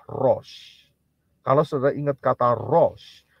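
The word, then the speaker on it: ראש: Shin Res Al dan Shin itu bunyinya ya pronounciation-nya atau pengucapannya adalah Ros Kalau saudara ingat kata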